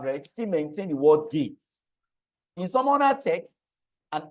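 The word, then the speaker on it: GEIT: For instance, ISACA uses the word gates, G-E-I-T, that's how we pronounce it, gates.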